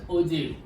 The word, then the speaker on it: ogive: Remember, pronunciation is ogive because the real word is OJEEV. Ogive. Okay, in your textbook also it is given that the pronunciation is ogive. Don't say ogive or ogive. This is the wrong pronunciation.